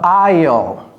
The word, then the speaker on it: aisle: The aisle. Okay, the aisle. This is how you pronounce it. Aisle. Aisle. C'est comme si c'était aisle.